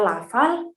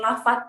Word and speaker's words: lafal: Nah, harus jelas ketika kita ingin berbicara lafal, berarti harus lafal, bukan lafat gitu ya.